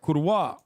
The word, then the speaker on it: Kurwa: That's right, Kurwa. At least learn to say the word, please. Like, at least learn to pronounce the word. It's with a hard V.